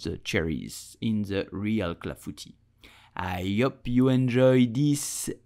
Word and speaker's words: clafoutis: So how do you pronounce it in French? You will say clafoutis, clafoutis, clafoutis.